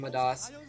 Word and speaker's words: Midas: commentator watching claz art he calls him madas because of his accent there so I might call him madas too uh but I guess in America probably pronounce his name Midas um anyway yeah the